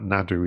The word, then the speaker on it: Naru: with the character of narrow I'm told that Nadu is the way you pronounce it in incrementary I was looking at